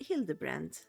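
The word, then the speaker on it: Hildibrand: Since parting base, I have searched every alley and diar keep for signs of this pill the grand character is pronounced hild the brand.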